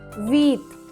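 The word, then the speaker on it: huit: Coming to number 8, H-U-I-T, wheat.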